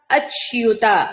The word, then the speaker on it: అచ్యుత: సర్వాగమానాచారః ప్రథమం పరికల్పతే సర్వాగమానాచారః ప్రథమం పరికల్పతే ఆచార ప్రభవో ధర్మో ధర్మస్య ప్రభురచ్యుతః ఆచార ప్రభవో ధర్మో ధర్మస్య ప్రభురచ్యుతః అచ్యుత ఎప్పుడు తెలిసిందే కదా చకారం తక్కువ యకారం ఎక్కువ తీసుకోవాలి.